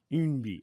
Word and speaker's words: Eunbi: Yeah, it's spelled EUNBI. Umbi, okay.